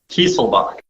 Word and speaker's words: Kieselbach: We have, and let me see if I say this, Kieselbach? Kieselbach. Kieselbach. Okay. I got to remember that. My pronunciations are horrible.